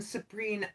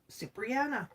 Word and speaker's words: Cipriana: Make one, Sabrina. Am I even saying your name right? Cipriana. Cipriana. That's how you say it.